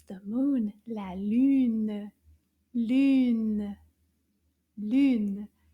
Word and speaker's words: lune: It's the moon, la lune. Lune, lune. Combien de syllabes dans le mot lune? Lune. Une syllabe, lune.